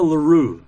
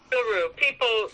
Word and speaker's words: L'Heureux: So L'Heureux is how it is. Yeah, that's fine. Perfect. Gotcha. That's L'Heureux. People know me by that, and it is a difficult name to pronounce in French, but it has a literal translation.